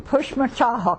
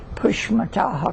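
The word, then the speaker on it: Pushmataha: well I was born in push mataha County you want me to spell it for you yeah p u h m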